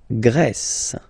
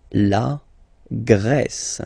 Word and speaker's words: Grèce: And the first one, la Grèce. La Grèce. Okay, so remember gr, gr. And then this accent grave like that, open.